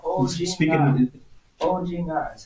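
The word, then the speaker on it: 오징어: It's called ojinga. Speaking Ojinga. That's how you pronounce it.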